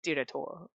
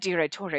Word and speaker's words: Direttore: Sure, it's Direttore. You probably don't pronounce the E like that, but that's the way I do it, so whatever.